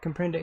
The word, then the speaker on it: comprende: Comprende, yeah.